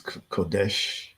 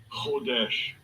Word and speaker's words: Hodesh: I believe it's Kodesh, something like that. Strong's H2320. Hodesh. Hodesh. It was Hodesh. The K is silent, it sounds like, huh?